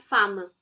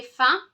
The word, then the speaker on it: faim: Not femme. M is silent. J'ai faim.